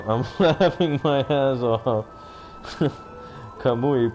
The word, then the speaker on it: Kamui: Kamui, pronounced Kamui. Ka is a little bit longer. Kamui.